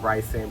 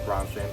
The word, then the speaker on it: Bronson: Like, just as long as it's not Bryson, Brandon, or anything else of that nature, because I get that far too much when I specifically and say my name phonetically as Bronson or Charles Bronson, and I still get those things.